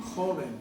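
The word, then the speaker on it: joven: How you pronounce again? Hoben.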